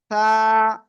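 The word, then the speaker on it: ثاء: আগা এই উপরের দুই দাঁতে লাগান এই লাগিয়ে হালকা বাতাস বের করে উচ্চারণ করতে হবে আর এক আলিফ টান হবে সা জোরে জোরে সবাই বলেন সা মাশাল্লাহ মাশাল্লাহ খুব সুন্দর এরপরে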